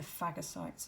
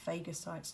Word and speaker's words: phagocytes: these particular types of white blood cells the phagocytes okay or the phagocytes depending on how you say it and they